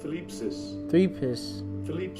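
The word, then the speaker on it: θλῖψις: The Greek word here for tribulation, you got, let me see, I'm gonna get the pronunciation. Strong's G 2347. Thlipsis.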